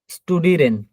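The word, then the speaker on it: studieren: শব্দের শুরুতে বা মাঝে যদি এসপি থাকে তাহলে স্বর মতো উচ্চারণ হবে। শব্দের শব্দের শুরুতে বা মাঝে যদি এসটি থাকে তাহলে স্বর মতো উচ্চারণ হবে। স্টুডিরেন, আউফস্টেহেন।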